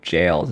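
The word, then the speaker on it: gaol: Yeah, this British spelling of jails is always wild. Whenever I read old British authors, I don't know when I learned that this is how you pronounce it's jail, but anyway, let's end as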